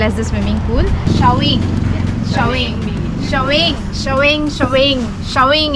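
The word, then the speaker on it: Chaweng: Showing is the correct pronunciation.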